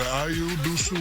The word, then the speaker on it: Ayo Dosunmu: Ayo Dosunmu. Ayo Dosunmu, yes indeed. People learn how to pronounce your name.